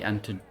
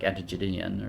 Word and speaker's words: Antigonid: Ah, the Antigonid. I always thought it was like Antigonian or something, but when you hear it on the documentaries, they pronounce it so much more smoothly than we ever could.